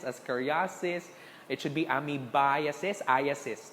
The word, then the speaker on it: ascariasis: they make fun of you okay when you pronounce it that's ami biases ascariasis it should be amibiases is iss ascoriasis okay